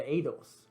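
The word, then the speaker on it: eidos: sense in the idol uh the edos i think i even pronounced it idols last time the adults the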